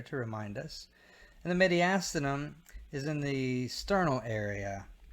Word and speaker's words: mediastinum: Pleural cavities, something called the mediastinum. Some people pronounce it mediastinum, mediastinum or mediastinum.